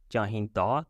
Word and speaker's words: ਚਾਹੀਂਦਾ: Masculine singular is chahinda, da sound at the end, and masculine plural is